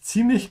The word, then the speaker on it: ziemlich: Weil es ziemlich kalt hier draußen ist. Because it's pretty cold out here. Draußen is outside. Remember to pronounce that sound like a TS, ja, ziemlich.